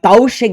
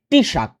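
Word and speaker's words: Taoiseach: minister T shirt এটার উচ্চারণ তাশি এরকম দেখাচ্ছে বাটবা তাউশে দেখাচ্ছে বাট এটার একচুয়াল উচ্চারণ হবে টিশাক ওকে তো টিশাক যার নাম হচ্ছে লিও ভারতকার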